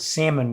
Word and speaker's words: salmon: can't pronounce the word salmon without including the L. He insists, he's like, "The L's right there. Of course, I'm gonna pronounce you pronounce it." And I'm like, "It's a silent L."